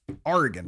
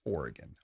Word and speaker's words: Oregon: old home state of oregon oregon don't pronounce it like that it's oregon or or like the thing you row boats with okay not like pirate r oregon uh a bunch